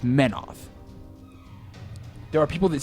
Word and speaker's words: Menoth: Because it's Menoth.